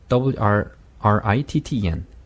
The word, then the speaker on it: written: write의 이제 WRITTEN 이것도 마찬가지 written 하지 말고 written. written. 네, 그렇게 하면 됩니다. 네.